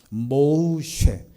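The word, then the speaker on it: משה: 봤는데 이름이 뭐 센데 정확한 히브리어 발음은 모으 쉽니다 모우 쉣 이것은 물에서 건져 내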